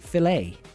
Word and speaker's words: Chick-fil-A: But for some reason, they pronounce it filet. Like the letter A.